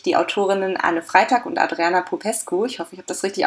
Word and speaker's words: Adriana Popescu: bei mir nämlich die autorinnen alle freitag und adriana popescu ist richtig ausgesprochen gern perfekt am kit und die beiden